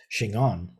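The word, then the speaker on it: 真言: That same word Jin on is pronounced Shingon in Japanese.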